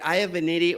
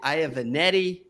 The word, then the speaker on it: Iovinitti: Did I say it right? Iovinitti, or is it Iovinitti? Either way. Either way.